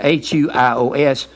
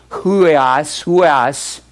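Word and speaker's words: υἱός: The diacritical mark is a breathing sound, H-U-I-O-S. If you pronounce it huios, it's like a Y, huios.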